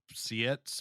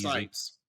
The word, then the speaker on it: Seitz: My next one is I think his name is pronounced Sietz. I don't know, Patrick Sietz. Patrick Seitz. Sites. Sites. Sites.